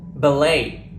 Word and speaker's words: ballet: there are cases when the letter T is silent in certain words possibly because these words were borrowed from a non language for example ballet gouret du and Buffet when I was a